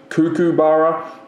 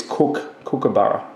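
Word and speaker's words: Kookaburra: Cuckoo's Nest cuckoo bar it's not cuckoo not cuckoo clock cuckoo cuckoo it's cook cabar that's one thing it's just a you know pronounce it whatever way you want but that's the proper way okay um here's the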